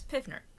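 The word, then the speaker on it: PV=nRT: It's also known as Pivner because it kind of spells the way that it's spelled sounds like Pivner.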